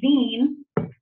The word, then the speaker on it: zine: first thing is that you pronounce it like Zine like Bean um a lot of